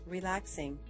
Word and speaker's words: RELAX NG: designer in stylus Studio relax NG is pronounced relaxing let's start creating a